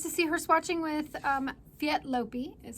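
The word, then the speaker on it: Léttlopi: And nice to see her swatching with Lettlopi, is how I've been told we're supposed to say it. We like to say Lettlopi around here. But that's incorrect. I've been corrected that it's Lettlopi.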